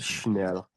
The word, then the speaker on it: Schnell: Um, It's funny how you t pronounce his name Chanel like the handbags. well, it was, dude, embarrassing Schnell, moment. Chanel. Schnell, Thomas Schnell, Okay, Schnell.